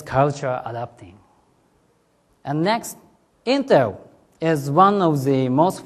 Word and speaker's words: Intel: Intel marketing staff changes their message by Japanese just like this. I pronounce by Japanese, Interu, haiteru. Again, Interu. Haiteru is a rhyme.